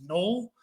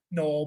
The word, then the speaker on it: Noel: be surprised Jaylen uh NL spelled like Noel but it's null he's actually not even